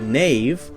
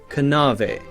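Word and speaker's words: knave: in english were pronounced a word like nave k-n-a-v-e would have been pronounced something like kanave kanave now we have a silent k so we don't say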